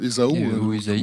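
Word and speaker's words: Ésaü: Jacob fuit son frère EAO on prononce Isao j'ai pas été au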